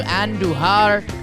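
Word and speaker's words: Andújar: the weekend Jack sawinski Miguel andujar roll your r's when you and duhar and Kevin Newman with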